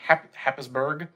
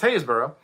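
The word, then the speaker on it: Happisburgh: uh mentioned something called haysborough light which doesn't look at all how it's spelled it's actually spelled h-a-p-b-i-s-b-u-r-g-h it's a happisberg but it's pronounced hayesboro um and hayesbro is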